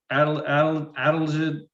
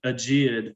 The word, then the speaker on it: adelgid: Gypsy moth, the woolly adelgid, I've always pronounced it aegeid for some reason, but that was just a mispronunciation because I've been fascinated